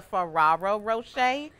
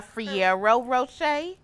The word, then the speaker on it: Ferrero Rocher: So it's a Ferrero Rocher, not a Fiero Rocher.